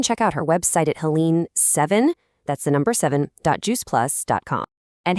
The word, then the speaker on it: Helene: Now, that's spelled Helene, but it's pronounced Helene.